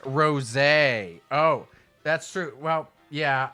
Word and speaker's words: Rosé: But apparently um did you know there is a soda called a Super Saiyan Rose?